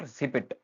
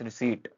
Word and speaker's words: receipt: Then है रिसीट, इट्स नॉट रिसिपिट, इट्स रिसीट, P silent रहता है।